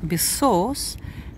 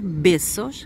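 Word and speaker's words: Besòs: Видите, Бесос, я делаю ударение на О, потому что стоит ударение. Если бы я поставила ударение на Е, Бесос, было бы Бесос, поцелуи, но на испанском языке, потому что на каталонском будет питонс, поцелуи.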